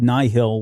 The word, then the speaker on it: Nihil: it right i don't is it nihil do we actually get pronunciation on this so soul said nigh hill when he did the interview but that's how i say it so i don't know that works for me so the nighthill and